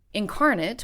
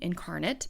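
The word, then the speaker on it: Inkarnate: Incarnate, which is spelled I N K A R N A T E, Incarnate, is an online fantasy mapmaking software that costs about $25 a year for their premium version.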